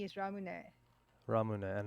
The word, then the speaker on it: ramune: be confused with that no because it's like r-a-m-u-n-e is ramune ramune and how do you pronounce ramen ramen r-a-m-e-n which is ramen ramen